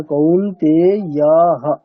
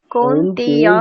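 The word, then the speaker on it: কৌন্তেয়ঃ: বিসর্গের উচ্চারণ এখানে হ। কেমন হবে? হ। তাহলে কৌন্তেয়াহ, তাই না? কৌন্তেয়াহ।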